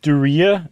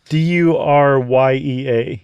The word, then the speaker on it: Duryea: car Um Duryea? It sounds like something you contract that you'd be really unhappy about.